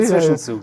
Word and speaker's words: Zwischenzug: Zwischenzug. If I pronounce correctly. Zwischenzug, yes.